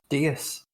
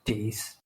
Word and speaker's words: Deas: You see, I have always pronounced your surname as Deas. I didn't know it was Deas.